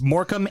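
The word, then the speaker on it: Morecambe: on an American Highway and moromi is spelled the same suffix yep moram it's moram and they have a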